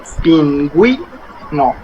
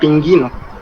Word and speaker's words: pingüino: But when we have something like that, this U, pingüino, we pronounce the U. It's not like in guerra. We say pingüino. It's not pinguino. Pingüino. So that diéresis makes the U to sound.